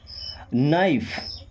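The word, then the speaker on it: knife: Okay, then नाइफ। अब world हमारा के से शुरू हो रहा है और पढ़ते नाइफ है। क्यों? क्योंकि एन के पहले अगर के आ रहा है तो साइलेंट हो जाता है।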